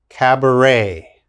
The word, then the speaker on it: cabaret: has a k sound bouquet the next word cabaret cabaret and of course in korea there are